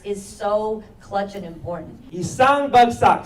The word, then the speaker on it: Isang bagsak: Isang bagsak, say it with me. Isang bagsak. Those 4 syllables have this movement.